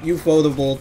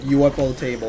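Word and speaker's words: ufotable: foldable and it sucks the real pronunciation of you foldables like for now it's like UFO table like it's actually supposed to be pronounced like that oh it is like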